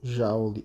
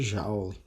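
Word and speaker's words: joule: que é chamado de um Jauli ou Julie dependendo de como você queira pro se pronunciar tipicamente a gente chama de jaula tá isso no sistema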